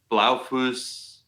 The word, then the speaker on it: Blaufuss: Blaufuss. Yeah, however you want to. I feel like it got flattened in America, but maybe Blaufuss was like the German.